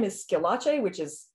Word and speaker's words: Schillache: uh it's and my last name is skelache which is spelled strange it's s-c-h-i-l-l-a-c-e and there's no